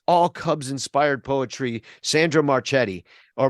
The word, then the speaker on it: Marchetti: Sandra Marchetti, or Marchetti is how you say her name.